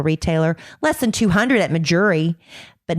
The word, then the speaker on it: Mejuri: A diamond ring that's easily over $500 at a traditional retailer, less than $200 at Majuri, but not because they're cutting corners, because they don't have the expensive overhead.